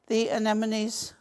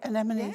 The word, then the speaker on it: anemone: Now you could use a third, and you could cut out the anemones. I said it right, anemones. Yeah. Anemone, yeah.